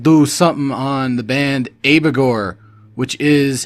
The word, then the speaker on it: Abigor: we're going to do something on the band abagor which is how you pronounce it or at least that's how the band pronounced it when they said it once on this one album so abegore it's like the name of a demon or